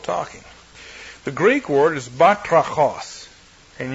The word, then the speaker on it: batrachos: The Greek word is batrachos, and you can hear the frog in that if you listen carefully. It's another onomatopoeic word, like tzipur for bird, chirper. Batrachos, batrachos. You pronounce it properly and you're croaking.